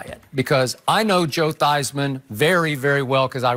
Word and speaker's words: Theismann: a Heisman campaign but he actually changed the pronunciation of his last name from Theismann to Theismann to rhyme with Heisman so Joe did tend